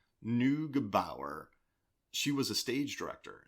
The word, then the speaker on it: Neugebauer: Neugebauer.